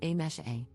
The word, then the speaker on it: Amise: For context, my name is written as Amise, but is pronounced as A-mesh-A.